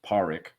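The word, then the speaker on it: Pádraic: and Dominic liked powering I think that they pronounced as Parikh Dominic liked him but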